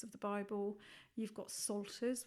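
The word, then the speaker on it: psalters: You've got salters, which is actually spelled with a P. So P Ster, silent P.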